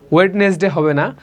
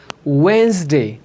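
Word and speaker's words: Wednesday: আমি আবার রিপিট করছি, স্যাটারডে, সানডে, মানডে, 2 লিপ এক করে, Monday, Saturday, Sunday, Monday, টিউসডে, টিউসডে, টিউসডে, ওয়েডনেসডে, ওয়েডনেসডে হবে না, ওয়েন্সডে, ওয়েন্সডে, Thursday, Thursday, Friday.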